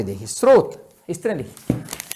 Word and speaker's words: स्रोत: फिर आप सहस्त्र को सहस्त्र नहीं बोलेंगे, स्रोत को स्त्रोत नहीं बोलेंगे।